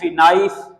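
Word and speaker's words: knife: हो यहां पर है के एन आई नाइफ नाइफ नहीं होता अक्सर लोग इसको किना बोलते हैं नाइफ नहीं होता नाइफ नाइफ नी घुटना जिसको आप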